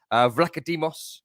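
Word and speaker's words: Vicario: all the goalkeepers they have used this season vados as I've been reliably informed you pronounce his name and Matt turmer Matt Turner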